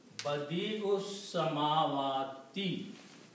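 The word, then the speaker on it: بديع السماوات: So you are reciting Badi'us Samawati. And that means the alif is silent?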